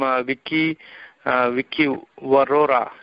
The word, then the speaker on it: Viki Vaurora: So we'll hear more from Viki Vaurora.